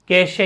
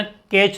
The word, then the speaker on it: cache: CACHE spelling है, spelling क्या है, CACHE, कैशे या कैश, है ना, कैच नहीं बोलना है।